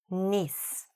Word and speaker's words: niece: Niece. Okay, here we do pronounce that I long, not short.